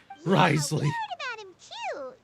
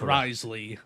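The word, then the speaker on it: Wriothesley: it's a very true I can now say it correctly risely like John Lee it's risely he is the highest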